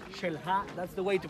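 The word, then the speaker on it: Xel-Há: Every time you see the letter X and that word belongs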